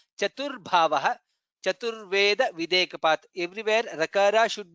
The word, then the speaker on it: चतुर्भावः: Chaturatma Chaturbhavaha. Bha is Mahaprana. Chaturbhavaha.